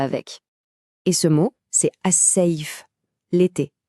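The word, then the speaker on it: الصيف: Et ce mot, c'est as-saif, l'été. Celui-là, il est assez facile à prononcer, franchement. Le I, c'est exactement comme dans le mot paille.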